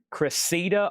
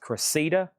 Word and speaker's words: Cressida: We got Kiss, and I think that's pronounced Cressida. Kiss and Cressida.